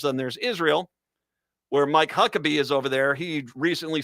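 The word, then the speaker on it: Huckabee: Needless to say, Huckabe, well, rhymes with Huck.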